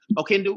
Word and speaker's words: Oquendo: That's how you pronounce it. Oquendo.